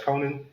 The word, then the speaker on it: Conan: Ghostface from Scream and Conan the Barbarian. So, Ghostface... You said you're going to butcher that name wrong, huh? What, Conan the Barbarian? Ghostface from Scream? No. Who's name? It's Conan. Not Conan.